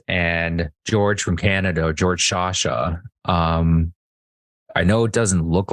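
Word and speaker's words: Sciascia: They're told to go hide in a closet, and George from Canada, George Shasha, I know it doesn't look like that if you end up looking up his name, but that's actually how it's pronounced.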